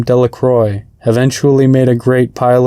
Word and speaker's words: Delacroix: and Harry Jones and Dicky Delacroix the villagers pronounce his name Delacroix eventually made a great pile of stones in